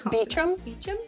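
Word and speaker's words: Beauchamp: elizabeth bouchon crate fraser i think it's beechum yeah you that's the northern english pronunciation of that word i like how you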